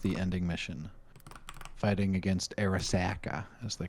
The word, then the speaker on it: Arasaka: Am's help with the ending mission, fighting against Arasaka, as they call it. Mm-hmm. Arasaka. It's freaking Arasaka.